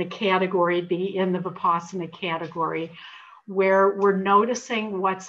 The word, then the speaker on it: vipassana: by our compulsive thought patterns and then in vipassana so this is the third stage and it's spelled v-i-p-a-s-s-a-n-a it's the most common kind of meditation taught